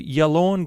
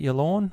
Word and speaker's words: Yallourn: And we're going to start in Victoria to Yallourn Golf Club. I think that's how you pronounce it, Yallourn, Y-A-L-L-O-U-R-N, Yallourn.